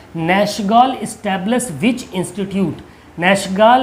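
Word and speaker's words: Nachtegall: ये नखटे गाल लिखा, नैशगाल इसको प्रोनाउंस करिएगा, ठीक है, नैशगाल।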